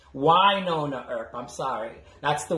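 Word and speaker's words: Wynonna: focused on uh winona earth because and it's why nona er i'm sorry that's the way they they they want everyone to pronounce it it's why all right as opposed to winona the way that i've been pronouncing it uh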